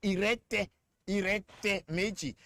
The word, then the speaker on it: Irete Meji: say we say letemeji, is actually Yoruba word called irete meji. But because our people could not pronounce that, they adulterated it, it became letemeji. It's irete meji.